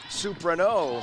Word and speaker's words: Soprano: Soprano. Soprano, okay. Accent on the last syllable.